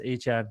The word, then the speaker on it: Achane: Yeah, that's my new That's how you spell that right there. Is is That's how you say it. It's Achane right there.